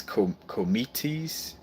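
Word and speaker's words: κομήτης: And then in Greek, it's called like almost like it's with a K and it's kometes. And kometes mean long hair. And kometes aster, so basically it's like long haired star.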